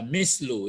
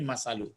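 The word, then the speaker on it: مثل: Masalu ini ada membacanya masalu, ada membaca mislu ya, tapi ini masalu.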